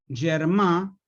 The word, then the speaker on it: germà: tiene que ver con una palabra catalana que es germán lo pronunció mal pero para que lo escriban bien con germán y con acento en la a germà que así se debe pronunciar en catalán germà quiere decir hermano